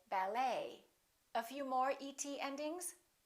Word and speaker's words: ballet: the et ending and in the french language the t is almost always silent so english speakers pronounce it the same way we don't say ballet we say ballet a few more e.t